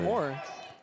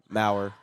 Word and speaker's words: Mau: Is it Mau or is it Moore? Mau. Mau. Mau. Gotcha. Well, I know how to say it now.